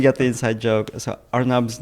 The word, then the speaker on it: Arnab: the inside joke so arnab's name is pronounced as door knob without a d even now like when I play tennis for example that's when I meet the most strangers nowadays some people have a hard time like trying to hear or say my name so I kind of like take that easy way and say okay think door not and then now just cut that first part out it's our knob it's exactly like that